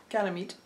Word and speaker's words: Ganymede: I'm gonna terraform in Ganymede.